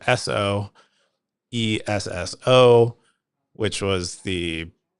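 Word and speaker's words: Esso: used to called used to be called so e sso which was the pronunciation of uh the acronym so standard oil,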